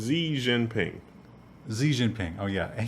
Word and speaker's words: Xi Jinping: is his name Jing or Jian or I'm not sure how to pronounce it. Xi Jinping.